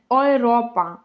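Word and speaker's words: Europa: Є ще буквосполучення еу, яке читається як ой у словах, льйте, фронде, гойте, ойропа.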